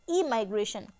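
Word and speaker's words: emigration: देखिए, this is pronounced as इमाइग्रेशन and this is pronounced as ई माइग्रेशन।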